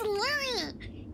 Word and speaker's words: Louis: can use buying something but it's not Lou it is Lou I know it's spelled differently but it's silent so it's called was